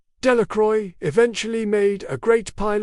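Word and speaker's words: Delacroix: The villagers pronounced this name. Delicroy eventually made a great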